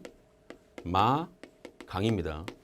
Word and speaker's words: 백마강: 모아 피니까 b a 이것은 발음이 백마강 입니다 백마강 알고 계십시오 발음이 뱅 뱅 마 강입니다 비마 들어가니까 자 이거는